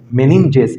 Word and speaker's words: meninges: झिल्ली होता है, मेम्ब्रेन, जिसको कि हम लोग मेनिनजेस कहते हैं। मेनिनजेस, इसका स्पेलिंग है MENINGES, मेनिनजेस।